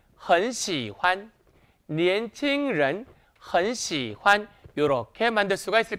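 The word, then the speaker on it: 喜欢: 있을까요 다같이 시환 시환이 시환이란 단어는 삼성 뒤에 경성이 오는 성조 규칙이 있어요 이때 주의하실 점은 뭐냐 봤더니 경성은 혼자 쓸 수 있다 없다 없다 그래서 끝나는 발음 즉 성조 뒤에다가 살짝 잡아주면 됩니다 그러면 삼성 뒤에 살짝 잡아주기 때문에 쭉 내려왔다 올라올 때 딱 잡아주면 예쁘겠죠 한번 해 볼까요 시환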